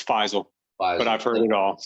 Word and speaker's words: Faisal: your first name wrong so how do i pronounce it it's faisal but i've heard it all so okay faizal